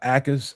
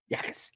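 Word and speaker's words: Jacas: You guys heard about Gabe uh Akis out of Illinois. Yakas. Yakis. Yakas. Yakas. It's a no J. All right. Jay is silent, brother.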